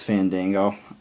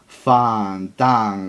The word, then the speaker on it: Fandango: gimmick I'm not going to wrestle unless you pronounce my name right and it was his name was Fandango Fandango and uh I guess he thought his name was fangle or whatever the you know